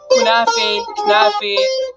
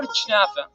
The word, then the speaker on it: kunafa: Kunafe, or Chnafa. Regardless of how it's pronounced, it usually refers to the syrupy cheese pie that's extremely popular across the Middle East.